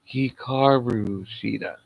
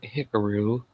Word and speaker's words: Hikaru Shida: wrong all the time it's like hikaru shita not hickaroo like hikaru hikaru shita i believe it's how you pronounce it but she defeated nyla